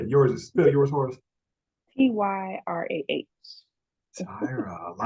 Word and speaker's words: Tyrah: Tyra but either no it's not Tyra like Tyra Banks because she's like Ty mine got a little spice on it yeah yours is still yours p-y-r-a-h Tyra I like that I